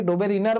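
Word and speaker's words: Döbereiner: এরপর বিদেশি বিজ্ঞানী তো, এরপর যে যেমন করে পারো উচ্চারণ করবে, তোমাদের বই দেখবে যে কি উচ্চারণ আছে। আমি ডোবেরাইনার বলে উচ্চারণ করি, অনেকে ডোবেরিনার বলে উচ্চারণ করে।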